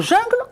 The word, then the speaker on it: jungle: continuant mes petits jungle même dans le mot jungle on entend le sang un pain fin j'ai première syllabe jeun la deuxième syllabe gleut dans le mot jungle on a le son un il ressemble et c'est